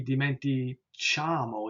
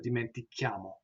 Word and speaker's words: dimentichiamo: And if we didn't have that here, it would be dimenticamo instead of dimentichiamo.